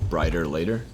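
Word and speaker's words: Bryter Layter: sooner the follow-up uh nick drake album to brighter later was that a was that how you pronounced that yeah b-r-y-t-e-r-l-a-y-t-e-r i thought it was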